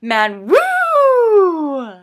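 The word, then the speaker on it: ManWoo: my friends about it I'm supposed to pronounce it man woo so yeah this is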